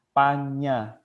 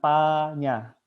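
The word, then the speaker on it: paññā: cacingnya ya enjangjing dibacanya Panya jadi m cacing ini harus dibaca nya dan juga penggalannya itu harus dibaca nya bukan Papanya harus kedengarannya panjangnya Hai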